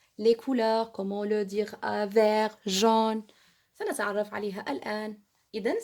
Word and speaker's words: vert: Je répète, vert. On ne se prononce pas T, non.